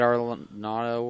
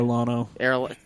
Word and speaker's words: Arellano: David Arlanato, whatever. Arellano. That's how you say his name.